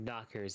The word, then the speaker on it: knockers: I'm a fucking trailblazer of tatas, the king of knockers even. That doesn't quite have the same ring to it because the K is silent.